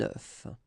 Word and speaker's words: œuf: Un œuf, un œuf.